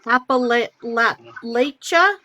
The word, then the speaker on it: Appalachia: pronounce it Appalachia.